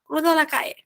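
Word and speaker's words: calle: gente já viu que quando a gente tem uma palavra que tem LL a gente encora na pronunciação como um então cruza la cai então lá caia é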